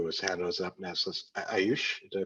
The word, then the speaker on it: Ayush: Ayush, did I pronounce that right?